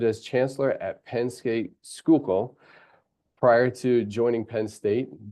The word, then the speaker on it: Schuylkill: Earlier, he served as Chancellor at Penn State Schuylkill.